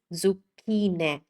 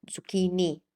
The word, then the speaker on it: zucchine: This is zucchine. Zucchine. Not zucchini because the ending e in Italian is always e.